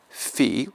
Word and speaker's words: phi: phi or phi will be pronounced like the PH in photo, or like F in English.